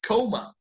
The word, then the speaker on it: comma: Well, in English, comma is coma. We just spell it with a double M, okay?